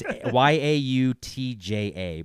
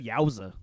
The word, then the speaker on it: Yautja: It's Yautja, but it's pronounced Yautja. He's a Yautja. I always that's- just said Yowza. He's a Yowza.